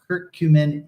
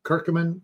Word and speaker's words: curcumin: Turmeric, the Latin name is curcuma, which gives the name to the alkaloid that's extracted from it, called curcumin, or curcumin, if you want to pronounce it that way.